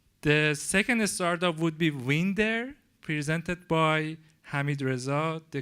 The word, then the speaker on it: Winder: I'm Hamid, co-founder of Winder. I pronounce it because that's the Dutch pronunciation for the word.